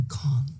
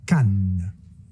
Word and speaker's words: Cannes: We should launch in conjunction with the Festival du Cannes. Actually, it's pronounced Cannes.